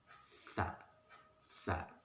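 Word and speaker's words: ث: Nah, huruf sa ini ujung lidah bertemu dengan ujung gigi dan sedikit dikeluarkan. Sa, sa.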